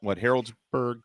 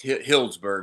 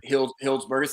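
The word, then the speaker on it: Healdsburg: And you've got Harrodsburg coming up. No, it's Hillsburg, is how you say it. It's in Sonoma. Hillsburg.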